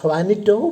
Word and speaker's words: Juanito: It is Juanito because in the Spanish language J is pronounced as ha.